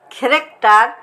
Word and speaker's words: character: Character, chaos, stomach, monarch.